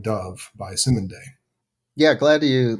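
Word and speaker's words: Cymande: dove by the group i think it's pronounced simon day c-y-m-a-n-d-e now it's an instrumental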